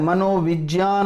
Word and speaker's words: मनोविज्ञान: मनोविज्ञान होता है शुद्ध उच्चारण।